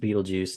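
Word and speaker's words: Betelgeuse: first one is actually Beetlejuice the coming of the branch we see in Malachi 3 and that's in the right shoulder yes it is pronounced Beetlejuice now it has no relation to the movie uh we have rigel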